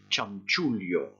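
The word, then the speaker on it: chanchullo: choses comme ça et ça se prononce vous répétez après moi charm tulio comme tout et on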